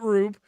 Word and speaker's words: R/B: And then Ultraman Rube is the last one that I watched. And if you think that title sounds weird, that's because it's Ultraman R/B, but they pronounce it Rube.